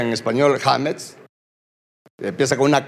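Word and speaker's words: חמץ: Y fíjese que interesantemente, la palabra leudado que aparece ahí, viene de una palabra hebrea que se pronuncia en español hametz.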